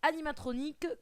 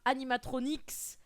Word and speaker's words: animatroniques: un livre de traduction la bonne prononciation en français c'est animatroniques que eux et pas animatronics ce personnage s'appelle bo